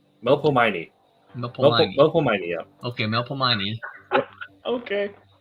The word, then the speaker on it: Melpomene: My powers are awe and I'm not sure exactly how to say this, but Mapelmany? Yeah. Mapomely? Melpomene.